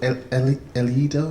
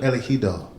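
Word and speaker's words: El Ejido: We saw that you lost to El Edo, is that right? Sorry? You were at Espanyol. You lost in the Copa del Rey to El Edo, is that correct? I can't pronounce it properly. Elegido. Elegido.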